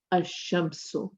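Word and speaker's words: الشمس: But in the Shamsiya, you do not pronounce the lam. So you'll say ash-shamsu, al-qamaru. So if you notice, I've pronounced my lam here, I've not pronounced the lam here.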